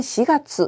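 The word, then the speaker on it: 四月: 4월은 시가수라고 하는데요. 시라고 읽히는 경우는 4월 정도 기억하시면 되겠습니다.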